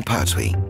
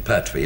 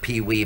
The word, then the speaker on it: Pertwee: My real name is Jon Pertwee de Laillevaux, but nobody pronounced the name Pertwee because it was spelled P-E-R-T-H-O-I-S, so the illiterate English pronounced it Pertwis. So it was changed to P-E-R-T-W-E-E, and now they pronounce it Pee-wee, Petwit, Pardony, Pastwit, and anything else.